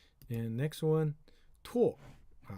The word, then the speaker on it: 拓: Okay, it's 拓. Now another pronunciation called 踏.